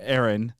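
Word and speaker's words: Eren: Aaron.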